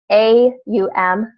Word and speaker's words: Om: so a lot of people have talked about ohm ohm is a standards and it's actually pronounced a um because it is if you look up what